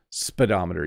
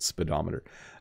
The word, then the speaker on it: speedometer: it's a speedometer so even though it has the word speed in it it's not pronounced the same way so it's a speedometer spedometer you you bar barely say the first little bit speedometer uh and then in